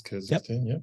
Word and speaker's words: Kyrgyzstan: How many countries border Kyrgyzstan? Yeah, I guess it's Kyrgyzstan. Yep.